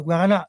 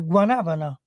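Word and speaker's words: guanábana: gusto Ma hanno sbagliato È guarana No è guanabana che poi si scrive guanabana con la b con frutto che oltretutto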